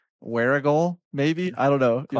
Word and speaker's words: Warragul: ahead in Australia, and I think it's pronounced Warragul, maybe? I don't know. You have to pronounce it. Warragul. Warragul.